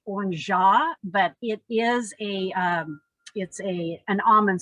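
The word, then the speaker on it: orgeat: And this is pronounced orangeat, but it is an almond syrup.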